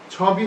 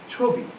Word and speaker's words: ছবি: হবে না হবে কবি ছবি হবে না হবে ছবি অর্থাৎ ইকারান্ত ধ্বনির পূর্বে